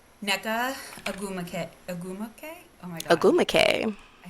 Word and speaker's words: Ogwumike: Ogwumike.